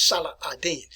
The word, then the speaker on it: Salah ad-Din: by the name of Salah ad-Din. If you watch some of the movies about the Crusades anyway, they were referred to him as Saladin. But proper name, proper pronunciation is Salah ad-Din.